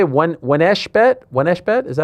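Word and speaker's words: 1xBet: How do you say it? Your sponsor. 1x bet. 1x bet, yeah.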